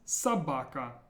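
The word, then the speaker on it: собака: more words how about this one this is pronounced Sabaka Sabaka again watch that the first or is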